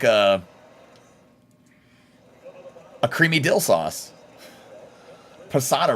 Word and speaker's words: Posada: a creamy dill sauce Posada rhymes with empanada we played the winter